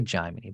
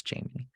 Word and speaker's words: Jaimini: I always say Jaimini, but I know it's Jaimini.